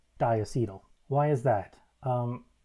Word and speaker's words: diacetyl: diacetyl this is pronounced diacetyl why is that um it's because diacetyl is made up of two acetyl moieties and i'll get into